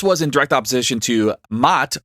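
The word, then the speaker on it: Maat: violence and this was in direct opposition to mat it's spelled m a a t which was order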